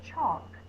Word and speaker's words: chalk: I wrote with some chalk ch ch is the C diagraph all and with a silent L chalk let move the word up